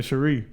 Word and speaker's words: Cherie: Cherie, not Cherry. Yeah, Cherry. but we could actually spell it out. You know, Cherie, not like cherry.